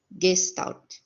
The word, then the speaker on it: Gestalt: Gestalt né e a uma do certo de pronunciar a palavra é Gestalt tão já já oriento né os próximos para